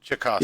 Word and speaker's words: Tchaikovsky: The T is silent. Okay. Yeah, Tchaikovsky.